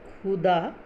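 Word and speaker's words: ख़ुदा: लेकिन अगर हम इसमें हम ख के नीचे में डॉट लगा देते हैं ऐसे, है ना, खुदा, तो ये क्या हो जाता है, इसका उच्चारण हो जाता है खुदा।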